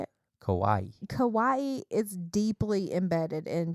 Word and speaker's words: kawaii: this is dedicated to all things cute or Kawaii yes so cute oh my God and randomly